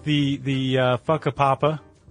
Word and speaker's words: Whakapapa: you were talking talking about, are almost always pronounced as an F sound. So Whakapapa sounds more like Fuckapapa.